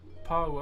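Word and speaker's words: pāua: So if you search up Pa P A U A or abalone.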